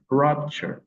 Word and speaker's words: rupture: Vous avez rupture, rupture, rupture. L'accent tonique est placé sur la première syllabe.